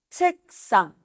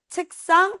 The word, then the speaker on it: 책: El check con De el check, o sea, el libro decimos check, pero el escritorio donde también Ujú.